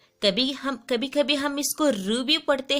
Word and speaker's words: ऋ: पर लगाते हैं कि नीचे लगाते और इसका उच्चारण जो हो उन्हें जी की थे तभी हम कभी-कभी हम इसको रूबी पड़ते हैं तब हम इसको री बोलते हैं